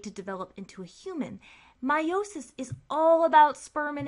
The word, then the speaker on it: meiosis: You may also have heard people pronounce meiosis as meiosis. We've been guilty of that. But technically, if you look up the pronunciation, meiosis is the correct one, so we'll stick with that.